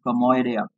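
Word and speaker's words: κωμῳδία: So जो word comedy है, it has been derived from a Greek word which is pronounced as komoidia.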